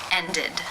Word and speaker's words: ended: Ended. How do you pronounce this word?